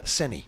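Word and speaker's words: Saini: Do you pronounce him Senai? Seni.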